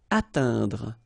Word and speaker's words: atteindre: So remember, when you combine this E, I, N together, you get the sound un. Atteindre, atteindre.